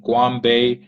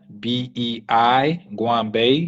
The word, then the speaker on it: Goanbei: am on LinkedIn my full name on LinkedIn Guam Bay so there's g-o-a-n-b-e-i Guam Bay g-o-a-n-b-e-i with an e e m m